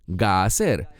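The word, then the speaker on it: Gazer: Muchas veces se llama Geser, pero aquí dice Gaser. Y el énfasis en Gaser está en la primera sílaba.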